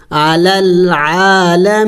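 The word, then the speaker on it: العالمين: एक अलिफ के मकदार नून ज़बर ना आलमीना वकफ करेंगे तो वकफ में इस नून को साइलेंट करेंगे यानी इसको इसके ऊपर सुकून डालेंगे साकिन करेंगे अल आलमीन लेकिन नून की आवाज को आखिर में निकालना होगा अलल आलमीन या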